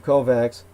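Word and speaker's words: COVAX: the world as in hence it's acronym kovax Cooperative vaccination although it's spelled cax so it's coed by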